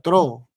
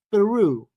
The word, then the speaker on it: through: Yo decía tro. Y créeme que debería decirse así, ¿no? Porque no hay ninguna U. Pero es through. Como acá tenemos Through. este diptongo, Through. o U, es through.